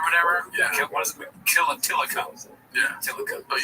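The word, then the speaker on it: Tilikum: Tillicum.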